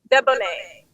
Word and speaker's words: Deboneé: So, how do you pronounce your name? Deboné. Debonné.